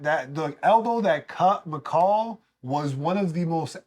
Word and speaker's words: Michel: been saying it wrong it's not Michelle it is it is mall it's Mall not this this mall all the AEK and